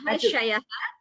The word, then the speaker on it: महर्षयः: This Maharshayah word, please listen to the chanting, the recording, and learn the pronunciation correctly, Bhagini. There is still slight error. So please practice this, especially this first word. It is Maharshayah.